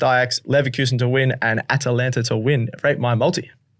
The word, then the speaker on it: Atalanta: You stumble over Atalanta. It's Atalanta. Sorry.